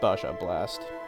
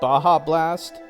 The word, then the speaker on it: Baja Blast: Blast Baja Blast oh I guess the J is pronounced like a h sound in Spanish or something is that why like when whenever like Hispanic people go ja J Jah it's pronounced ha haa okay I get it